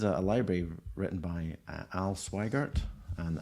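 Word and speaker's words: Sweigart: library written by al swigert and i think that's how you pronounce his name rhymes with wider um he's an author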